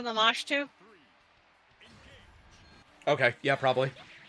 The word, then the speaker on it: Lamashtu: So, I want to correct you on the pronunciation. It's actually Lamashtu.